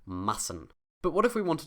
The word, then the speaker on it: Massen: Because of this double S, this is a short A, and the consonant sound is a soft S. Massen.